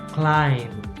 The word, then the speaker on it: climb: sandwich rain rain so the g silent climb climb the bee is silent so for example we say climbing not